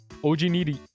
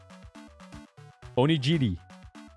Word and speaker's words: onigiri: Because, Ojiniri. No, that's not how you say it. I just literally said it the same way Bonnie says it, which is wrong. Onigiri.